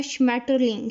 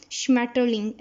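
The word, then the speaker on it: Schmetterling: और सबसे मज़े का जो वर्ड है वो है श्मैटरलिंग, श्मैटरलिंग कहते हैं बटरफ्लाई को, जो कि मतलब इंग्लिश में भी इतना मज़े का वर्ड है तितली के लिए, और जर्मन में भी आप देखें श्मैटरलिंग, SCH जो है वो शीन की आवाज़ देता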